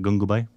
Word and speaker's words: Gangubai: Is that the how you pronounce it? Gangubai?